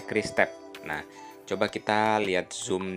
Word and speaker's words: QRIS Tap: Nah, dibacanya Kris Tep.